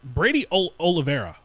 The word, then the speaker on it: Brady Oliveira: I also wanted to say, Brady Oliveira. That's how you pronounce his name.